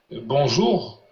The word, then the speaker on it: bonjour: Puisqu'en France, on met l'accent sur la première syllabe.